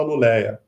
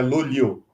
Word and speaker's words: Luleå: porque é difícil mesmo, as pessoas não sabem pronunciar. Normalmente, em português, você fala Luleia, mas o A com a bolinha em cima, ele termina com Yu, então é Luliu, né?